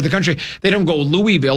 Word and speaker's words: Louisville: Louisville, they pronounce it Louisville, and it's all kind of slurred together.